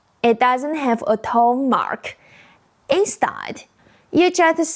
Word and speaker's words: 吗: The pronunciation is short, light, soft, exactly like the second ma in mommy.